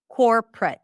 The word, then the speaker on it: corporate: middle syllable is awah, you may reduce the middle syllable completely like memory, family, restaurant. So same thing here, corporate. Corporate. And this is how I would say it. Corre. So no O whatsoever.